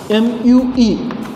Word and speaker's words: mu: It is pronounced as M-U-E, M-U-E, mu, dynamic viscosity.